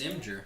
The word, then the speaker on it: Imgur: Imgur It's as well. amazing. And I did not like what is it. it supposed to be? Imager? It's Imgur.